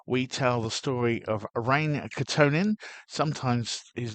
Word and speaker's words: Väinö: show, episode 32, we tell the story of Rain Katonin. Sometimes his name is seen as Veno or Weno with a V or W, but according to Finnish research, it is pronounced Rain.